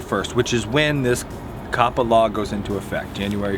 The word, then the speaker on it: COPPA: I knew I'd say it wrong. Right now it's COPPA, which for us, our demographics include very little, put all this up.